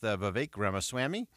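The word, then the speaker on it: Ramaswamy: for tonight uh and so let's begin with v grma Swami and that is the proper pronunciation we've done the quadruple check on that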